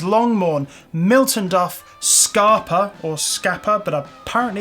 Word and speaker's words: Scapa: Glenkeith, Glenlivet, Glentockers, Longmorn, Milton Duff, Scarpa, or Scapa, but apparently it's pronounced Scarpa, Strathisla and the Strathclyde Grain Distillery.